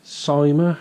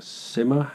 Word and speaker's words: Syma: and I found that the cyma or a simmer however you want to pronounce it it's sy ma I'm gonna pronounce it simmer the similar x8 series